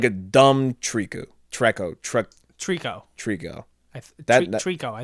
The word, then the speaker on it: Trico: a dumb like a dumb treku trekko truck trico trico that's the trico i think that's what